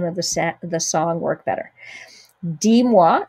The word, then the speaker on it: dis-moi: Dis-moi, so notice you're not pronouncing that S on the end of D because that's a verb and we don't pronounce S's at the end of verbs.